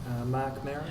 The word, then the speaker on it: Mark Maron: And I always say his name wrong. How do you say his name? Mark Maron.